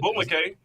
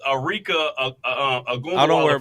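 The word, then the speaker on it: Arike Ogunbowale: And so Aneka Abumake. That is how you say it. No, not Abumake. Oh, okay. It's not the one on ESPN? No, it's Arika Agumbawala from Dallas.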